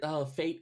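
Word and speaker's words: fête: I mean, like the word fate in this context with that spelling and with that accent mark does mean a celebration or festival, and it has the same pronunciation as the one we're already using.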